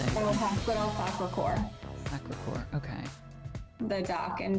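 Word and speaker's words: Sacré-Cœur: Capital Sacre, I don't know how to say it. Hospital Sacre-Cœur.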